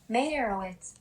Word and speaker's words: Meyerowitz: How do I pronounce this? Meyerowitz.